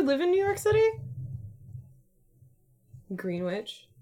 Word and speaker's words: Greenwich: Greenwich. How do you say Greenwich? Do I say Greenwich? It's like sandwich, but it's green, right?